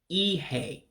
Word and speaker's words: ihe: You have that I with the dot underneath that gives you a E sound with a real high sound. So you would say, obviously, Ihe. Ihe. That's what that first word is, Ihe. And then the E's make an A sound. So again, that first word becomes Ihe to our English-speaking ears.